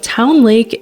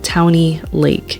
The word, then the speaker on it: Towne Lake: it's kind of funny she always pronounces the e at the end Towny Lake anyways we started our